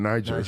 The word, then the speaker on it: Niger: probably guess where Niger. Yeah. But we just want to make sure we're saying Niger, you know, I had a couple brothers. That's a soft G.